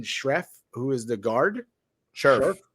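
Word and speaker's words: Scherff: Scherf. I pronounced it wrong. I knew it.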